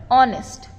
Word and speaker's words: honest: अब यहाँ पे एच साइलेंट है, इसलिए हम जो साउंड आ रहा है वर्ड का उस पे फोकस करेंगे एंड we will write N, all right.